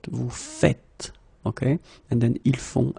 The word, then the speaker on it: vous faites: it like that and it's not vous faisiez but vous faites.